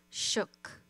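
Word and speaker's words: suk: Shook, a human being. A Fognak dialect, the S is pronounced sh. It sounds like shook, but with a shorter O.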